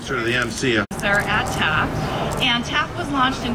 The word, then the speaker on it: TAAF: TAF, am I saying it right? Yes.